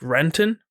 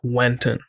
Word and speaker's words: Renton: So I want to say like Renton, but it would always pronounce Wenton, just because, what's it called?